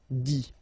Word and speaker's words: dit: Remember, you put this T, you don't pronounce it. Écrit, dit.